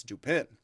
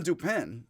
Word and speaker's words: Dupin: The name Dupin, which sounds like duping or Dupin when mispronounced by Americans, and Dupin's full name, C.